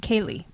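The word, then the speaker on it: céilí: pronounce that word but apparently it's Irish and it's pronounced Kaye have you ever been to a contra or a Kaye yeah hope I'm saying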